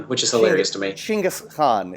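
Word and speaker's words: Genghis Khan: as some people say jingus Khan which is hilarious to me chingus Khan is actually how it is pronounced in the Mon oh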